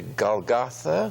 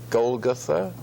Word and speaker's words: Golgotha: crucified some people say Golgotha some people say Golgotha any way you like I think Golgotha comes more trippingly off my tongue but then I will accept that pronunciation live from is of